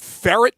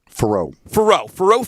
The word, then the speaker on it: Faurot: Is it Ferret Field? Faurot Field.